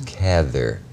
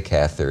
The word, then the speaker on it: Cather: always used to say you can say cather if you'd rather which was supposed to